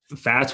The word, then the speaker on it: Phats: And, Phats, when you say it, it should start with an F.